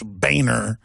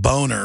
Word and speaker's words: Boehner: a pun really folks you're supposed to pronounce that German name boner what's be proud of your family name but he even had a campaign when he first ran for congress saying it's Baner not boner we had to find